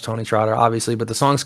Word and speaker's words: TonyxTrotter: You can find it, Tony X Trotter. That's what you search, but it's pronounced Tony Trotter, obviously.